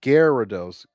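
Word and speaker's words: Gyarados: It's pronounced Garidos.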